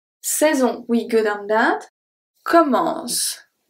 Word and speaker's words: commence: So the last letter that I pronounce is, for the last sound that I pronounce, is a S. So the E is silent. The E is just there to make the C into S.